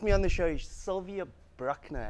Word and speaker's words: Sylvia Bruckner: on the show is Sylvia brockner have I pronounce that correct yes syvia how are you